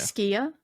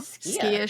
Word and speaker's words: Skia: The way it's pronounced as well is very like you kind of hiss hiss out the word.